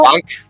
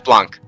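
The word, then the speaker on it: blanc: specific kind of wine wait wait it's not blank yeah it's blunk yeah i gotta add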